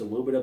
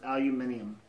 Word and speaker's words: aluminium: He loads aluminum. He drives a truck. And he works like 60, 70 hours a week. Aluminium. It's pronounced aluminium. Like Aluminium. Lady Gaga. I like to say aluminum.